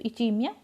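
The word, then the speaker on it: ischemia: ठीक है, बेसिकली ये इसकी स्पेलिंग है, राइट जो है वो यही है, आई एस आएगा, एस साइलेंट होता है, तो इचीमिया।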